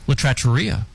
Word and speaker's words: La Trattoria: La Trattoria.